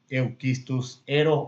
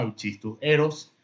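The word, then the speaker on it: Euschistus heros: No vamos a entrar en detalles si vamos a pronunciar la CH como K o va a ser la CH como el español. Vamos a leerlo como está en nuestro idioma, Euchistus eros, ¿sí?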